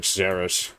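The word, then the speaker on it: Szeras: Well, from what I've seen in the air that's pronounced like Saras, Illuminor Saras, like when uh when the [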